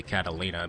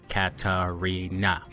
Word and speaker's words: Katarina: just meant to say Catalina because they get the RS and L's messed up so we were calling her Catalina for the longest time but no they actually meant Katarina because that's how you spell it with a K and an r in there not with a l and a c I notice she uses